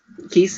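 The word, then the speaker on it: Keese: keiss keiss or keissy how do you pronounce is it keiss keiss keiss okay just like geese I always kind of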